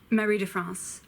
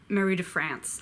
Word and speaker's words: Marie de France: wah Mahadev comes Matt I hate do pulse Marie de France or Marie de France I guess but that sounds ugly I'm swab